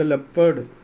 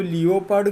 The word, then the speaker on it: leopard: You will know it इज़ द लेपर्ड, आप समझ लेना ये लेपर्ड है. कुछ लोग इसको लियोपार्ड कहते हैं, प्रोनाउंसिएशन लियोपार्ड नहीं है, लेपर्ड, लेपर्ड.